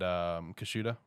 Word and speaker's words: Kushida: up between Harika and Kushida, or how you pronounce her name. No, you said it. Kushida? Yeah. Okay.